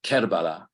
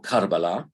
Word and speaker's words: Karbala: um shrines this is kerbala um or karbala Arabic doesn't write the short vowels so there's always more than one way of pronouncing these things and this is